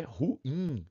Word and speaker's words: ruim: E a pronúncia é ruim. O I é forte mesmo. A gente tem que seguir, senão a gente teria que acentuar o U.